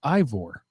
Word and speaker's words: Ivor: It's Ivor, not Ivor, but my good friends call me.